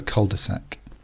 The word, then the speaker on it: cul-de-sac: then back out again again the French pronunciation would be quite different to this but in English we call it a cul-de-sac and if your bedroom